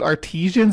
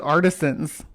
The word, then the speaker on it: artisan: I've always said artisans. Is it artisians? No way. Have I been saying it wrong all this time? I'd say artisan. It's spelled like artisan, not artisian. A R T I S A N.